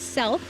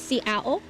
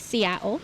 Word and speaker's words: Seattle: How is it that you're related to Chief Seattle?" And quick history lesson, in our language, there is no th. So, it's not self like a lot of people think.